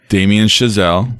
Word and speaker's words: Damien Chazelle: Damien Chazelle.